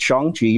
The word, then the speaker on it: Shang-Chi: I know it's an A, but I know it's got an A in it, but it is pronounced Shang-Chi.